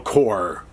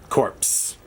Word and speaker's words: Corps: This is Gunfighters 2, Mad Dog 2, and Battle Corps. Corpse. My wife laughs at me because I say corpse. I always say it wrong.